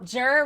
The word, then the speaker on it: Jur: Jur rhymes with fur.